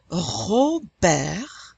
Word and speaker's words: Robert: And notice that we're not pronouncing the S in Paris or the T in Robert, because careful, generally, only the consonants C, R, F, and L are pronounced at the end of a French word.